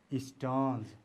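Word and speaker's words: Stearns: Okay, you have to pronounce as Champey. And last name is S-T-E-A-R-N-S, Stones.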